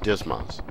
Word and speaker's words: DSMS: Welcome to the training lesson on the Digital Stores Management System, or DSMS, often pronounced DSMAS.